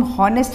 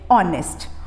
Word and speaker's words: honest: तो यहाँ पे स्पेलिंग में एच है लेकिन साउंड में नहीं रहेगा, तो इसको हम हॉनेस्ट नहीं बोलेंगे, वी विल से ऑनेस्ट.